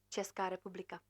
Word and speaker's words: Česká republika: Česká republika.